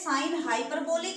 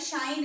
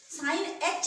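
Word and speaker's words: sinh: आप रीड करते हैं साइन हाइपरबोलिक एक्स या फिर शाइन एक्स बोलते हैं, इसको प्रोनाउंस करते हैं शाइन एक्स या फिर साइन हाइपरबोलिक एक्स, साइन एच एक्स नहीं बोलेंगे इसको।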